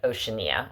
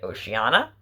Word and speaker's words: Oceania: it's by bjork it's called oceania as she pronounces it oceania i think we would pronounce it probably oceana and the americas but um there's a point